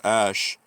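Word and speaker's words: X Æ: It's pronounced Ash.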